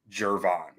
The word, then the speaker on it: Gervon: for everyone out there trying to pronounce his name it's like Jay jervon jervon Dexter yeah good to know so I was calling him I was calling him girvin Dexter for months before I realized that um but